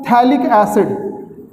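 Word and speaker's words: phthalic acid: इसका common name क्या है बेटा, कॉमन नेम क्या है इसका, थैलिक एसिड, थैलिक एसिड, पढ़ते इसको थैलिक एसिड है बट लिखते हैं PHB लिखते हैं, साइलेंट है, पैथैलिक और थैलिक एसिड बोलते हैं, दिस इज थैलिक एसिड।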